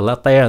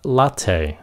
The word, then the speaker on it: latte: Cái chữ này không phải là latte, nó là latte. Latte.